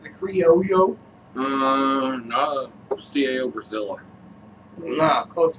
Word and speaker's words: criollo: The CAO was one of my cousins like, the Criollo. No, CAO Brazil. No, close enough, right? Yeah. There is a Criollo. Yes, and we both liked it. Criollo, like a yo-yo.